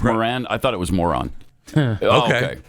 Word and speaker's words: Moran: Uh Oh, it's pronounced Moran.